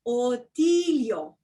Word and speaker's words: Otilio: 3 syllables, Otilio.